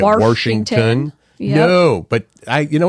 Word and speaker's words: Washington: Mary points out that some people stick an r in Washington and make it Washington no but I you